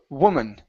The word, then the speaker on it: woman: word woman okay so instead of saying woo W it's an uh sound W woman woman okay we're not saying wo it's uh W open up the mouth just a